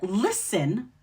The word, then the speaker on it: listen: But even though the order is not STL, the word listen also follows this pattern. LISTEN still has that silent T sound.